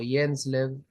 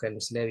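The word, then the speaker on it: Hjelmslev: presenta h lev o yens lev en realidad la J se pronuncia como una i pero van a ver que le digo hel lev igual ya se presenta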